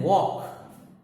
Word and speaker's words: walk: Then walk, just like talk. W-A-L-K. L is silent.